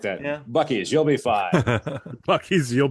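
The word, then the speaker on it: Buc-ee's: Have you heard the urban legend that it's pronounced Busey's? What? There is zero chance that a company that originated in Texas that's spelled that way is Busey's.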